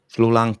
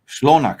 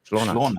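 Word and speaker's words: شلونك: Shlolank Habibi, Mickey? No. Shlonak Habibi. Shlonak. That's Arabic. I think it's Iraq. In Iraq, this is Shlonak, I think.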